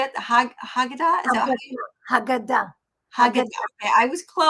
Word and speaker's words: Haggadah: Haggadah? Is that Haggadah. Haggadah? Haggadah. Okay, I was close in my Yeah, pronunciation.